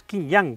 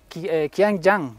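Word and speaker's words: Qianjiang: Que serían las King Yang. ¿Tú lo pronuncias mejor? Bueno, es porque es QJ Motor, que es Qiangyang.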